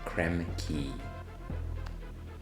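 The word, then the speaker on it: Krem Quay: It wasn't until I traveled to Singapore that I learned that that word is actually key, like lock and key. Creme key.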